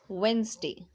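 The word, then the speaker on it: Wednesday: tune device है वेनसडे लिखते वेडनेसडे है बट पढ़ते वेनसडे लिखना है तो वह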